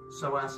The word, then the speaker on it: psoas: elongating the quadriceps muscle and the psoas muscle psoas is spelled with the p p s o a